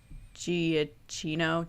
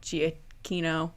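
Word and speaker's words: Giacchino: it's gonna be michael giaccino gia kino i always say it wrong i'm so sorry i think it's just i always say wrong i think that's how he says it i think he's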